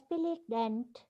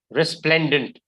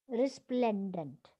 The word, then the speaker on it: resplendent: what are the two words i gave you dent that's not how you pronounce the word it's pronounced as resplendent resplendent resplendent what is the meaning carefully no have you